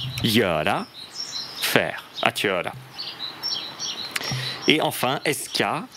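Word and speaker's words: göra: Ou alors Yara. Yara.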